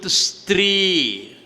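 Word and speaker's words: स्त्री: Woman is in Sanskrit Stri. Stri has 4 syllables. Sa, ta, ra, I. Stri.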